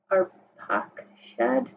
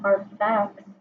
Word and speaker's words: Arpachshad: And Shem lived for 500 years after he fathered Arpachshad, but it's PA, not Arphax. There's no PH.